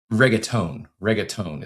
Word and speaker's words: reggaeton: Reggaeton is the proper pronunciation there.